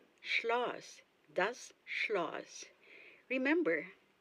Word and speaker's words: Schloss: Castle, Schloss. Schloss, das Schloss. Remember, the combination of consonants SCH, you say sh.